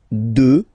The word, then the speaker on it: deux: Deux, final x not pronounced, okay, deux.